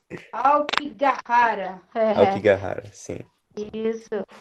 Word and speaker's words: Aokigahara: Aí, Aokigahara é o nome. Aokigahara.